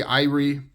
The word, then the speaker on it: Ire: I've heard both. I always say Irie because somebody I used to work with had a son named Irie, and that's how they spelled and that's how they pronounced it. So it just sticks in my head. But a lot of people are like, no, it's Ire. It's Ire. So, okay, whatever. I may say it both ways.